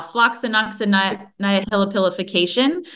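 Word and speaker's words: floccinaucinihilipilification: just cannot pronounce, and it goes like this: Phylloxynolipilipinicization. Could you please help me pronounce this? No, it's been a while since I've said it out loud and I'm not seeing it right now. Floxinoxynihilipilification.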